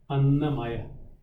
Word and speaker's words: Annamaya: It's A-N-N-A. So, had it been A-N-A, it would be Anna. A-N-N-A, it's Anna. Annamaya.